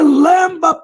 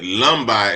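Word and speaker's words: Lemba: Now he's saying Lamba, but he meant to say Lumbi is the way we pronounce it.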